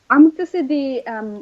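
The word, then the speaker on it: Amṛtasiddhi: which is called Amrtasiddhi, and I'm going to spell that for people. It's AMRTASIDDHI, so it's Amrtasiddhi.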